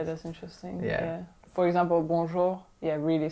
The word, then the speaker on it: bonjour: it right and it's it's because i didn't accentuate the last syllable so it would be like right so we're going to say a little bit longer like bonjour i mean that was